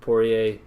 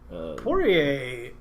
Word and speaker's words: Poirier: versus Dustin the diamond Poirier saying that right boy a that there's less water yeah yeah it's poor yeah it's spelled weird yeah I mean a silent yeah anyway between